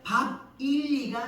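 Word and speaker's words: Bāb-ili: 되어진 바벨론은 영어식 바릅니다 바벨론 할 때 그 발음은 영어식으로 발음이고 원래 바벨론 당시의 발음은 밥과 밥 우리 먹는 밥이죠 밥과 일리가 합쳐진 합성 로 밥 일리가 됩니다 밥 1리 바일리 그리고이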